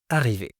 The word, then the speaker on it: arriver: Arriver, si vous le prononcez avec un R rouler, c'est-à-dire de cette façon : arriver. Arriver, le R est au milieu du mot, mais pas de problème, on vous comprendra.